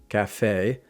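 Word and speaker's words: café: And when we say this word, we applied the English sound from cafe cafe rather than saying the Spanish cafe.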